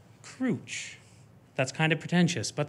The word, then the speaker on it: Crooch: So it's pronounced Crouch.